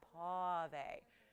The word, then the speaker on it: pavé: You have to say it like that. Pavé.